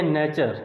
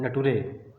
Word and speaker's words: nature: तो ये हो गया नेचर, इसको नेचर पढ़ते हैं, और वो लड़का क्या पढ़ रहा था उसको नेटुरे।